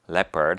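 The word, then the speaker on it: leopard: 하죠 There was le 자라고 할 때이 단어를 오라고 읽거나 혹은 다르게 읽는 친구들이 있는데요 lepard입니다 lepard 한번 따라 읽어 볼까요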